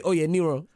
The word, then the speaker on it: Oyeniran: Femi Oyeniran.